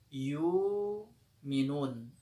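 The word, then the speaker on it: يُومِنُونَ: Yukminun kita baca menjadi yumun. Ibdal hamzah artinya apa? Hamzahnya digantikan dengan huruf wau. Cara bacanya yumun.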